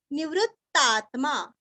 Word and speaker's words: निवृत्तात्मा: अनिवर्ती निवृत्तात्मा नीरस्व वृ के ऊपर आघात निवृत्तात्मा निवृत्तात्मा संक्षेप्ता स के ऊपर अनुस्वार का उच्चारण वांग्मय का ग संक्षेप्ता।